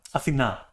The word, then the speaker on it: Athena: Athena is the pronunciation, okay? Athena, from the goddess, you know, obviously.